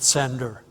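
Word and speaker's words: CendR: Sender we uh um abbreviate this uh uh that way and pronounce it sender.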